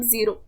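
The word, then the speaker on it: zéro: ये ज़ेरो मतलब ज़ीरो, इसका प्रोनाउंसिएशन होता है ज़ेरो। ओ को हम थोड़ा खींच लेते हैं।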